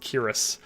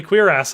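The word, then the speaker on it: cuirass: I love the way that Henry pronounced Kiris. Someone said the other day, it's actually queer ass. I'm like, I will not call it that. That just seems wrong. Kiris, that's how I've always pronounced it.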